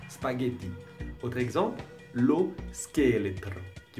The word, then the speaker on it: spaghetti: c'est vraiment facile spaghetti s'il n'y avait pas le H vous devriez dire c'est pas déjà mais il y a un H donc vous prononcez spaghetti autre exemple l'eau scale